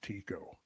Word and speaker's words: Tycho: And from my scholarship days, I recall that Tycho was actually pronounced Tycho.